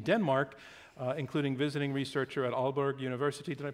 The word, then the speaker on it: Aalborg: You also hold positions in Denmark, including visiting researcher at Aalborg University. Did I pronounce that correctly?